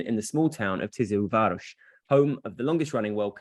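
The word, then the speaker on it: Tiszaújváros: As you, Tizilváros, you're excellent.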